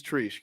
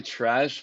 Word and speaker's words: Treash: asked this before we started recording it is trish correct it's actually trash but honestly i don't know it's like that's